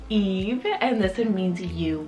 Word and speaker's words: Ives: Then I have Eve, spelled I-V-E-S, Eve. I've also heard it pronounced Ives, but it's Eve, and this one means you would.